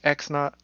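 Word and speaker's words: x₀: first point it's usually X naught well that's how you say and then why not the little zero is usually pronounced naught and then you got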